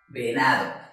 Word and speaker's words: venado: Venado. Lo dividimos en tres golpes de voz. Venado. Ahora bien, do es la última sílaba. Na, la penúltima sílaba. Y ve, la antepenúltima sílaba. ¿Cuál suena más fuerte?